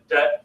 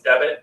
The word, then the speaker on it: debt: this silent V in debt students will pronounce it as debit which is different then